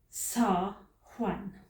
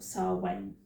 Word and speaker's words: Samhain: Now, it's spelled Samhain, and it's pronounced Samhain or Samhain.